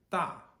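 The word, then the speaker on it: dà: For example, the phrase or the syllable da, which is D-A, 4th tone.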